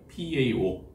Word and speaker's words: PAO: 파오라고 읽으시면 안 되고요. PAO 또는 폴리알파 올레핀이라고 읽으시면 됩니다.